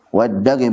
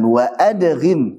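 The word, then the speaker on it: وادّغم: yudilu juga memasukkan waddagim Kenapa ngambilnya waddagim ya l karena menyesuaikan Baat syairnya waddagim bukan wa adghim tapi waddagim Fami War ro dan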